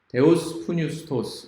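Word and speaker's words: θεόπνευστος: 헬라어 단어로 감동 또는 영감이라고 하는 이 단어는 데오스푸뉴스토스 이렇게 발음을 하는데 그것의 사전적인 의미는 바로 신의 바람을 쏘인 이런 뜻입니다.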